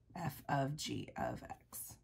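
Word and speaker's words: f∘g(x): So when you see this open circle, it's pronounced f of g of x. F of g of x, okay?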